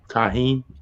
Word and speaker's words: tahini: Tahini.